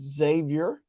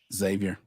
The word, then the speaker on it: Xavier: starts February 16th versus Xavier that X is pronounced like a z Xavier with the and then